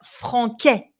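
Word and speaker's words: français: the french version and you know that we put this little thing under the sea to avoid a pronunciation mistake that would be je parle francais if you don't put the cd then we say something else francais ve re good ah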